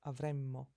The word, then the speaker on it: avremmo: almost spelled the same, but there is a difference in the way that they're pronounced, and in Italian we'll never mistake the two. Future is avremo, and then the conditional is avremmo. So remember to put that more of a stress on a double consonant.